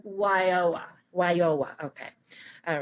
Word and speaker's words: WIOA: We do talk about it later on, but WIOA stands for the Workforce Investment and Opportunity Act. Okay. And what is it? It's how do you say it as a? WIOA.